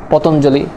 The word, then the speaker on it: পতঞ্জলি: পরবর্তী সূত্রতে যদি চলে যায় তা হচ্ছে পদের শেষে যদি তোমার অঞ্জলি থাকে, যেমন গীতাঞ্জলি, পতঞ্জলি, শ্রদ্ধাঞ্জলি। পদের বা শব্দের শেষে যদি তোমার অঞ্জলি থাকে তখন তার উচ্চারণটা তোমার রস্যিকারের মতো হবে, দীর্ঘিকারের মতো হবে না, যেমন গীতাঞ্জলি, পতঞ্জলি, একটু আগে যেটা পড়লাম আমরা।